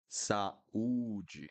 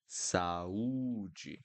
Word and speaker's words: saúde: U, uva, uva, uva, usar, saúde, saúde. So again, when I have more than one vowel, I need to pronounce each one. Saúde, saúde.